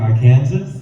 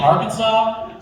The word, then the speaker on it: Arkansas: And then he had to actually spell it. Oh, it's Arkansas. you're saying Arkansas.